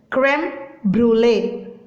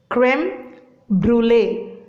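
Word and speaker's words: crème brûlée: So you need to pronounce it as creme brulee. Creme brulee.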